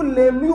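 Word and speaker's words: Lemieux: लिख पाए बदतमीजी देखो साला ई भी साइलें साला एक्स भी साइलें अबे सपने में आया था क्या मेरे कि ये साइलेंट होगा इसको लेमू पढ़ा जाता है इट्स लेमू रिएजेंट ठीक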